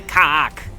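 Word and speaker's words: كعك: One thing I do know about Arabic is the word for cookies is And that's how you say it. You have to say kak.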